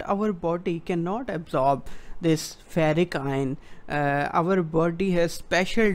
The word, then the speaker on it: ferric: Now, how to remember this ferric versus ferrous. This ferric rhymes with hat-trick.